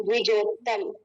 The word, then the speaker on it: द्विजोत्तम: द पे व है, आधा व, द्वि। द पे आधा व और उस पे छोटी की मात्रा, तो द्वि जो तम, द्विजोत्तम। द पे छोटा आधा व, उस पे छोटी की मात्रा, द्वि। ज पे ओ की मात्रा, त, उस पे अ, उस पे आधा त, फिर म, द्विजोत्तम।